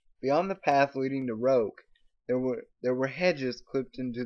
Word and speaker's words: roque: It's pronounced roke, Daddy was saying.